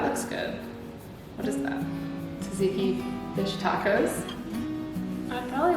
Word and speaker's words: tzatziki: Tzatziki fish tacos?